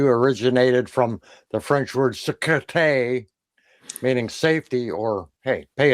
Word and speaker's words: sécurité: There's a persistent theory that CQ originated from the French word sécurité, meaning safety or, hey, pay attention. When pronounced in French, the first two syllables sound remarkably like the letters CQ, sécu, Sécu. sécu.